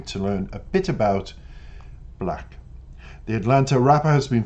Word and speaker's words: 6LACK: Now, he is referred to as the proper pronunciation, Black, by the way, not Six Lack, despite what your brain keeps trying to tell you about the name.